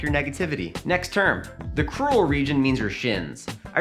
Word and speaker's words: crural: has enormous shins, and he probably lives in a rural area, which rhymes with crural.